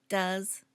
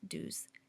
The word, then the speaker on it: does: Notice the pronunciation does, not do's.